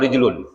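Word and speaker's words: رِجْل: Ini kalau nggak ada harokatnya, itu orang bisa baca rojulun, bisa baca rijlun. Tapi kalau ada siak, orang tahu, oh ini bacanya rojulun. Ini bacanya rijlun.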